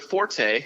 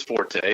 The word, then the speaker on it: forte: And his example for him is that the word forte, meaning your strong suit, is pronounced fort and not forte. And he can die on that hill because he's wrong. It is forte.